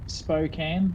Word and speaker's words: Spokane: Chris was just saying it's Spokane, so the way that I told you before how to say it.